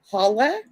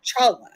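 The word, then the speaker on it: challah: Jewish bread it's called well it's spelled different but it's called holla but like Chala yeah yes yes yes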